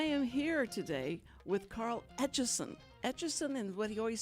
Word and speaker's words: Etchison: here today with carl atchison atchison and what he always said told everybody it's like the etch-a-sketch but you put a son on the end of it and that's that's how